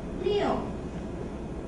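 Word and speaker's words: 六: Leo. Leo. It's similar pronunciation was this one.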